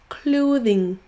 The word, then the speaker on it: clothing: Clothing, closing. Souvenez-vous que si vous voulez prononcer les deux sons TH, il faudra démarrer avec votre langue au niveau de vos dents.